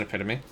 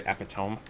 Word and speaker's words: epitome: I know that's how it's pronounced. I was pretty sure I said that, didn't I? I'm pretty sure. I'll check the VOD later. I'm pretty sure I didn't say epiome.